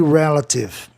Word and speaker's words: relative: A consoante é o atenção de E, e relativo, relative. Por quê? Porque termina em IV. IV no final, indicador de proparoxítonos, como detetive, detective. Detective é paroxítono, né? Mas aí no caso tem 3 sílabas, né? Então eu vou chamar o E de E, relative. Relative, você ia demorar demais para pronunciar a palavra, né?